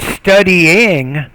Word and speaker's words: studying: You have study, which is 2 syllables. You have studying. Studying is actually 3 syllables, and I'm not hearing that third syllable there, so I'm